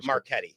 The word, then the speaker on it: Marchetti: Marchetti.